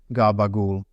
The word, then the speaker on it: gabagool: The second C rolls over into a G. The last sound falls away because it always falls away, and we will come back to that. Gabagool. That is not a mispronunciation. That is a rule. That is a system working exactly the way it is supposed to work.